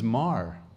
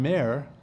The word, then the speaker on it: Maher: in bold letters my the actual pronunciation of my last name is Mar I go by Mayer you know the famous musician guy That's not me but I go I go by Mayer but actually my name is pronounced Mar it's Mar how did it change